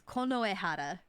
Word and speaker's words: Konohara: because it's Konoehara because you have to remember the Konoehara.